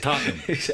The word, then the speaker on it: Tottenham: And this summer Tottenham's going to, am I pronouncing that right, Tottenham? Tottenham. Yeah, Tottenham. Right. You swallow the H. Tottenham. Exactly.